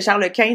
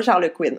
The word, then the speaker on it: Charles Quint: En tout cas, bref, c'est toi qui m'as appris que Charles Quint, c'était Charles Quint, non pas Charles Quinn.